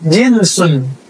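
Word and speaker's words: جنس: jins ke Pak itu beda lagi ya jins bacanya Ya kalau ini jinsun Ja Jim Nun Sin jenis bahasa Indonesia jenus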